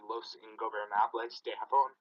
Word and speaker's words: Los Ingobernables de Japón: First off, it's Tetsuya Naito from Los Ingobernables de Japón.